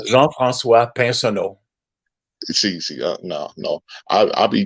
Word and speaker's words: Pinsonnault: See, I would not be able to pronounce that right there." It's Jean-Francois Pinsonneau.